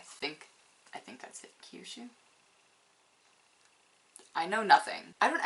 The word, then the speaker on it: Kyushu: much worse when it comes to trying to pronounce the japanese ones okay autumn in kiyushu i think i think that's it kyushu i know nothing i don't actually know a